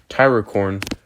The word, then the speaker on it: Tyrocorn: Anyways, so there also another thing I wanted to say, Tyracorn, go sub to him. That's how, because like last time I mispronounced his name and everything, so and so